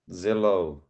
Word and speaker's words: Zillow: They were talking about a company that rhymes with pillow. Now go. Then you can take yourselves off mute. Zillow.